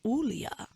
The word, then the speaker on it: Julia: So if you guys remember the Maximum Group, I had Miss Jenny and Julia, pronounced Ulia.